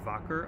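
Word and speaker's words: Wacker: of an alkene it's called the Focker oxidation german so that w's pronounced and it's a simple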